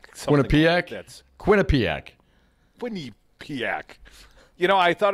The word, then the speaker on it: Quinnipiac: Dominic, we shared a little of the Quinnipiac. They stick a U in the middle. There's no U there as I see it, but according to the pronunciation guide, Dom, there's a U in there somehow. Quinnipiac.